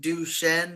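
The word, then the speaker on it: Duchenne: it's it is pronounced duen muscular distrophy what is that big word it's a really big word um but it comes it's French if that makes sense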